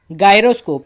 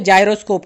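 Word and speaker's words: gyroscope: ठीक है, अभी नेक्स्ट इंस्ट्रूमेंट देखिए, गायरोस्कोप। तो इसे आप गायरोस्कोप कह सकते हो या जायरोस्कोप कह सकते हो, इसका प्रोनाउंसिएशन दोनों भी होता है।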